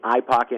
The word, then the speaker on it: eye pocket: look out for that it's called the eye pocket and it's not i as in the iphone it's i as an e-y-e because it's for classes so look out for